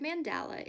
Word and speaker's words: mandala: friends, today we are going to make a mandala, which some people pronounce mandala. The word mandala is a Sanskrit word meaning circle.